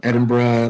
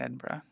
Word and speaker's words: Edinburgh: yeah is that there's all the others that have just Borough at the end or bruh at the end as we pronounce it as bruh Bruh Bruh Edinburgh Loughborough yeah I did